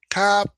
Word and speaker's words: Topanga: Oh, Topanga, pronounced Tapanga. For those who will have only ever seen it written down, is the name